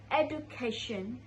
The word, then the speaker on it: education: So it's not education but education. The mistake is in the Jew sound. I said do but it should be Jew.